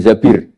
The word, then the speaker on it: Zabir: nikah sama Abdurrahman bin Zabir di hadis ini bukan bacanya bukan Zubair tapi zabir Abdurrahman bin Zabir tapi